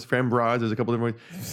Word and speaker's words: Framboise: The sour Framboise. Or Framboise. Framboise.